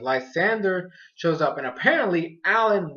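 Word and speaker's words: Lysandre: battle ends up stopping because lesandre or lysander that's what that's how they pronounce that lysander shows up and apparently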